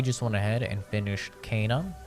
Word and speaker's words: Kena: went ahead and finished kana rigid spirits that is the proper pronunciation but i'll probably say kenna a million times because i'm [ __